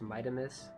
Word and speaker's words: Mitamus: It's supposed to be pronounced Mitamus, technically. Not with like a D sound. I think that's my California accent. But Mitamus, basically, how it's supposed to sound.